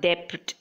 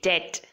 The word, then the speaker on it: debt: with it is doubt it's not depth it is debt debt is when you